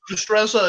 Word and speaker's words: Destreza: I know I've mispronounced that. Destreza? Actually, you're very close. Destreza is.